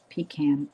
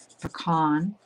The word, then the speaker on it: pecan: Canadians, I think, for the most part say pecan. And I think depending where you are in the states, you either say pecan or pecan, I don't know what the other